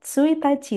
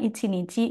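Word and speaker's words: 一日: Berarti kalau ada kalimat Kyo wa tsuitachi desu, berarti untuk kanji ini dibaca tsuitachi dengan arti tanggal 1. Contoh yang ichinichi misalkan, ichinichi ni roku jikang nemasu. Dalam satu hari tidur selama 6 jam.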